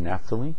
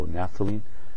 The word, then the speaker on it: naphthalene: Okay, we're asked to name this compound, and this compound is just naphthalene, and it has strange spellings. PH is pronounced as an F, so naphthalene.